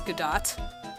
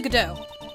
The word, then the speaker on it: Godot: So, of course I would read that as Godot for the first, I think for the first case or two. And then I'm like, oh, that's not how it's pronounced. So Godot. Who is this Godot person?